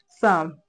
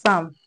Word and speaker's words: some: Sam. It's not Sam. Is some.